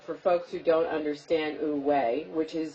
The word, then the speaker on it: wu-wei: So, talk a little bit about, for folks who don't understand wu-wei, which is spelled W-U-W-E-I.